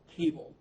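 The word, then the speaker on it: kable: a new function called cable. I guess K for knitr, even though the K is silent, and then able for the table.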